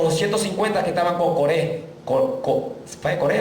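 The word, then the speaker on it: Coré: ¿Core o Core? Core. Termina el acento en la E.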